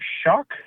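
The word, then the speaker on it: Shough: Baker Mayfield clearly playing hurt, losing to Tyler Shock. That's not how you would think his last name is pronounced, but it sure is.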